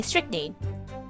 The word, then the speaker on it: strychnine: stricken stricken strick mean strict name strictly okay strychnine okay there we go boy i was so